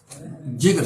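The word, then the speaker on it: Jaeger: कुछ कहते हैं कि जे जो है ये साइलेंट है, एगर्स चार्ट है।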